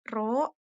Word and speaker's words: rho: bentuknya seperti tapal kuda, Rho yang bentuknya seperti huruf P, tapi tidak P juga ya, itu dibacanya Rho, itu adalah hambatan jenis